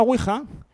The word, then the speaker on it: Ouija: aquí en España llega castellanizan el nombre como tal como se pronuncia ouija con la u con diéresis y aquí la tuvimos